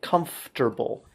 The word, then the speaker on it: comfortable: one but listen carefully comfortable it sounds more like come stir bul FTR it's spelled frt but it's pronounced FTR comfortable comfortable make sure the F and T are together comfortable okay a couple